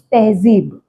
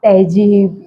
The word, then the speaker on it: Tehzeeb: सो इट्स तहजीब। इट्स नॉट तहजीब या व्हाटएवर पीपल कॉल।